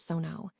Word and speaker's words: sono: First up is sono which is pronounced sono. Notice the open o sound and the stress falls on the first syllable.